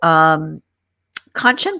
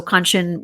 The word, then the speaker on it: Kanchan: So Kanchan was very awesome in that she said to remember the word luncheon, that rhymes with Kanchan.